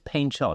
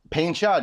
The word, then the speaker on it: Painchaud: do you pronounce it it's pain shod isn't it pain shod you're correct it's uh it's French so a lot of